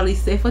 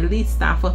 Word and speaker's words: Lee Stafford: nova da Lee stafford que a gente pronunciava leord mas isso é coisa do passado né le stafford porque europeia né não é americana Enfim então essa linha